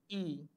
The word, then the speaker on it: y: Y means and the meaning is, the pronunciation is e, and the meaning is and.